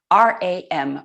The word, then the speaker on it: ram: um chant um one syllable um a single syllable ram r r a m ram and this rom is the seed syllable